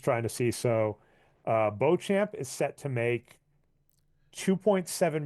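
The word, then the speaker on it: Beauchamp: Porter Jr let me get that last name pronunciation the reason I want to get this Bo champ yep I want to get his last name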